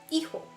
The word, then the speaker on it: hijo: Hijo. Hijo. Keep on forgetting the H is silent.